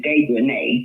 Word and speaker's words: Dejanay: Her name is Dejanay. Yeah, That's Dejanay. it. It's Dejanay because it's got A-E on the end.